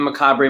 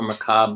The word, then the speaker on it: macabre: okay so um yeah this is the macabre motel or macabre motel you can pronounce it either way which i recently found